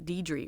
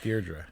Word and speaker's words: Deirdre: It's not Deidre, right? No, right. Deirdre.